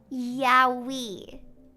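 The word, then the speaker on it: Yowie: Yahi. Like Yoi.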